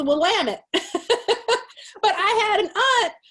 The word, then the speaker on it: Willamette: this wine this uh willa may this willamette wine from oregon and they were just like really bless your heart what did you say and i go willa may you know and it's willamette but i had an